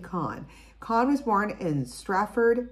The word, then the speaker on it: Kahan: lot let's talk about Kahan a bit or Khan it looks like Kahan but it's pronounced I think Khan Khan was born in